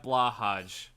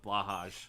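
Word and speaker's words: BLÅHAJ: it's pronounced Blaha The The J is silent it probably is but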